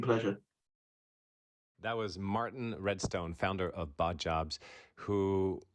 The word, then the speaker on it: Redstone: And the last name is Redstone, just the way like it's pronounced.